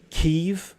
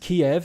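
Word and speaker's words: Kyiv: Also, Kiev, not long ago, was pronounced Kiev in English, but because that was the Russian pronunciation. And now people are asking to pronounce it Kiev, and now it's Kiev salad.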